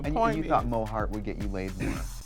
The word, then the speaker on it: Mo Heart: if I can just be Mo Hart, 2 syllables Mo Hart, much like RuPaul, you know, Trixie Mattel, there, you know.